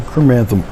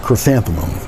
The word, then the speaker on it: chrysanthemum: glazed and everything but here it is some chromatom oh chrysanthemum i could never say it right it's like people who try to pronounce cinnamon but this is the painting i'm